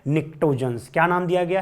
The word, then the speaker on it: pnictogens: और इस नाइट्रोजन family को एक प्यारा सा खूबसूरत सा नाम दिया गया है, निक्टोजन्स। क्या नाम दिया गया है? निक्टोजन्स।